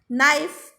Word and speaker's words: knife: Knife, K is silent.